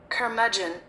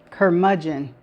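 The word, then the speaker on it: curmudgeon: And this is how it is pronounced. Kermagin. Kermagin.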